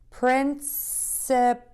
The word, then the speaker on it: principal: We are focusing on saying prince, sip, and pull. Prince, sip, and pull. And then when you blend those words together, when we do linking with words, you don't have to say the last sound and the first sound twice. You can say them once. So when you put it together quickly, it's going to sound like principal, principal, principal, principal, principal, principal.